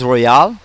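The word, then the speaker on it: Royole: based in Fremont California named Roy ole pronounced Royale is hoping to get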